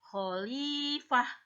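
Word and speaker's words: خليفة: bacanya bener holyfat and tapi kalau kita mau berhenti atau ada tanda waqaf atau di akhir ayat maka dibacanya menjadi khalifah Jadi huruf H dan pendek nggak dibaca panjang ya Ayah Mama udah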